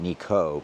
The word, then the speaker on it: Nikko: in Nico I still like to call it Nico even though the Japanese pronounce it Niko because it's just it isn't doesn't seem natural